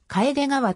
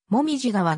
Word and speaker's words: 楓川: も呼ばれた楓がはの読み方については帰れ川と紅葉側が混在している紅葉と風が